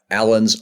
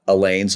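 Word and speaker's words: Alleine: urging me to read Alan's Alarm, not Elaine's Alarm. A new PhD by Josh Brownfield has determined as one of its least important points that it's actually pronounced Alan, not Elaine.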